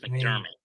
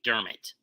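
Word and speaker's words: McDermott: wall shander mount pronounced mcdermit his name is pronounced mcdermit is the Bills coach last name is pronounced mcdermit kicks away that's gonna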